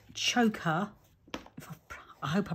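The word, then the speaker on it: Zsoka: first ever met her i think i called her jo and she's like no it's joker joker something like that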